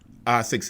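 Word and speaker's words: ASICS: the same company so don't mistake when I'm saying as6 or A6 A6 is the way it's pronounced um when I'm saying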